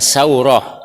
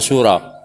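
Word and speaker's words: سورة: bin Aisyah bin saurah bacanya tsauroh ojo Suro saurah bin Musa bin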